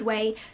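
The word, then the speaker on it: OUAI: Next up is a hair favourite, and this is from Way Hair Care. I hope that's how you pronounce it, I think that's right, O-U-A-I.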